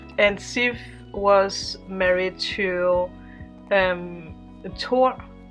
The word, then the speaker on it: Thor: There is a goddess named Sif, and Sif was married to Thor. Tor. I don't know how you pronounce it in other countries, but in Danish we say Tor.